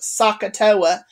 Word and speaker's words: SOHCAHTOA: One is probably the most common is SOHCAHTOA, okay, SOHCAHTOA. It's pronounced SOHCAHTOA, and it represents sine is opposite over hypotenuse, cosine is adjacent over hypotenuse, and tangent is opposite over adjacent.